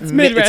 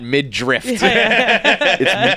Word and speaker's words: midriff: Like I don't know how to say it, but it's for sure not mid-drift. It's spelled RIFF. I don't know if it's midriff or midriff, but it's not mid-drift.